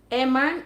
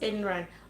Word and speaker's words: Emran: Emran, it's actually pronounced Enran.